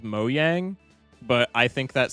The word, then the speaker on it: Mojang: It's more along the lines of like, I know that the company that produces Minecraft is called Mojang, but I think that sounds stupid, so I pronounce it Mojang, even though it's wrong.